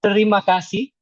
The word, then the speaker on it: terima kasih: Okay, I would like to tell you terima kasih. Okay, cool. Wait, let me see. I need to write it down so I can. Okay, so how do you say it? Terima kasih.